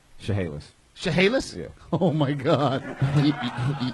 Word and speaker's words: Chehalis: Chehalis. Chehalis? Yeah. Oh my God. You're oh my godding that. Look how it's spelled.